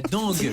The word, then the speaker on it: dengue: La dengue ou la dingue. La dengue.